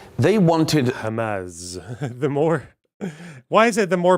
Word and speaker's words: Hamas: Yeah, Yeah, Israelis say Hamas because yeah, they don't pronounce a hate. They pronounce their hate is pronounced kha. yeah, It's hate, the letter. But for Arabs, we say Hamas because we yeah, can pronounce the hate.